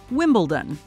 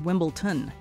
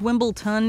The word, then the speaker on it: Wimbledon: long history and popularity people still mispronounce it as wimbleton unfortunately this came back